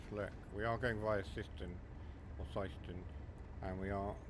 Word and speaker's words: Syston: So yes, it is pronounced Syston.